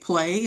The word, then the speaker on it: PLAI: We're calling it Play, and it's spelled PLAI, and that was actually